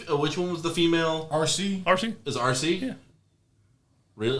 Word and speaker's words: Arcee: RC.